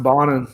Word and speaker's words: Bonen: usually start with yes my last name is bonen yeah it's actually pronounced bonnen though so um and then